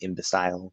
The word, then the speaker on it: imbecile: a stupid idiot uh imbecile some people say in decile that's another pronunciation um sounds kind of